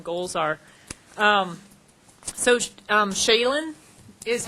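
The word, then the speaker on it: Shailen: Um so, um Shayen is how you say his name, Shayenbot.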